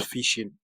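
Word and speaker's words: phishing: h i s h i n g that's fishing then Vision starts with a v v i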